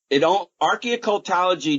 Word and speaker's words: archeo-occultology: Now, one of the things I wanted to get into, Richard, is, let me make sure I got this pronounced correctly, archeo-occultology?